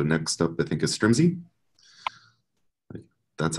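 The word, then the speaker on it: Strimzi: to go so next up I think is strumsy that's how you pronounce it that's right thanks I'm gonna go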